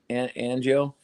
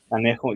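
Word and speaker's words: Añejo: Angio? Anejo, yeah, Anejo.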